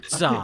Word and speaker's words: Tza: Yeah, Za. He is silent. TZA. It would be pronounced like Zar. Za.